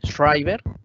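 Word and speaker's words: Shriberg: Shriver, que es otro, el que acuñó prácticamente el nombre, se escribe S-H-R-I-B-E-N-G, Shriver.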